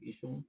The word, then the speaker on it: Esho: No, Esho Esther. Esho, Yes. Esho. It sounds like Esho.